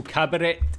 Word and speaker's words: Kabarett: German Cabaret, or I guess he pronounced it with a hard T, so Cabaret is just another level, man.